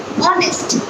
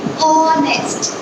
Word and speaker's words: honest: And I say honest. I have pronounced O sound. I have not pronounced H sound. And we are focusing on the pronunciation, right? So we say honest.